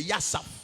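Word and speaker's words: יסף: Tu peux lire Yaf mais en hébreu c'est Yasaf.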